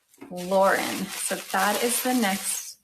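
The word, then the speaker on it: Loryn: Now, to confuse us, Lauren is not spelled like you would think Lauren is spelled. It's spelled L O R Y N. Lauren.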